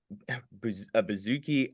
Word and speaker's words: bouzouki: A bouzouki, a doumbek, and an oud.